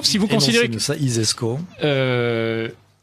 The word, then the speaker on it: ISESCO: Alors l'ISESCO, si vous considérez que ça, ISESCO. Comme ça se prononce, hein, ISESCO.